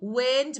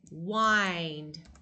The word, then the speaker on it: wind: So wind means moving air. Moving air. But wind is like this. We say wind. That is to twist or turn.